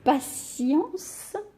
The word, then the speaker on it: patience: jeux j'apprends aujourd'hui que avec le n ou i o n le thé se prononce comme dans patience la patience est ce que